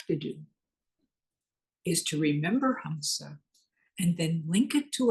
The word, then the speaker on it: hamsa: we use is Huma it's spelled h MSA it is a breath Mantra it's the sound that your breath breath makes when you inhale and exhale hamsa goes on within you